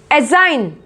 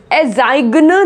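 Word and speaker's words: assign: एजाइन, एजाइन, एजाइग्न नहीं बोलेंगे, एजाइन।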